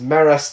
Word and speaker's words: MRAS: The Mega Robotic Assault System 2, or MRAS 2, pronounced MERAS 2 for short in dialogue, which looks like a mechanized scorpion.